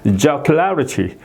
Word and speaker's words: jocularity: 그 다음에 jocularity 여기 it가 이제 있으니까 그 앞에 여기에 이제 액센트가 이제 있는 거죠. 그래서 jocularity 이렇게 발음이 되고요.